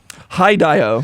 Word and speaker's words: Hideo: Hi, Dio.